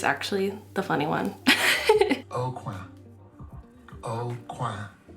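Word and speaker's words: Aucoin: O'Quay. It's O'Quay, like corner in French, not O'Coin, like a silver coin or something.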